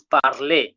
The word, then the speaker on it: parler: It is parler. Parler. That R must come out.